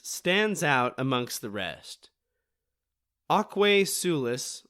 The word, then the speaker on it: Aquae Sulis: Aquae Sulis, I believe is how it's said, I'm not a Latinist,